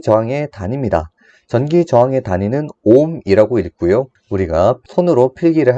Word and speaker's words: 옴: 전기 저항의 단위는 옴이라고 읽고요.